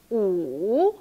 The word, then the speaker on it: 五: 五 The original tone is 五, like a check. High, low, high again. 五. But we just pronounce the first part during the conversation.